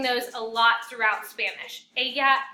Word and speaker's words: ella: A lot of you are saying Ella and Elos. Remember, your double L makes a Y sound in Spanish. So ella and ellos. And you're going to be using those a lot throughout Spanish. Ella, ellos, ellas.